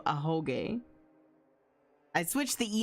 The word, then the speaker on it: Ahoge: I said Ahego. So I pronounced it wrong still, but I didn't say Ahegao. I just put an E instead of an O. Ahoge.